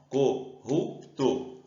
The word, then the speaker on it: corrupto: Qual é a sílaba mais forte? Só chamar. O corrupto. Essa daqui ficou mais tempo falando, o ru. Então, ela é a sílaba forte.